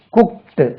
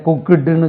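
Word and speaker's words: cooked: குக் சி ஓ இடி குக்ட் இந்த இடத்துல குக்டுன்னு சொல்லக்கூடாது குக்ட் குக்ட் குக்கிங் C okay I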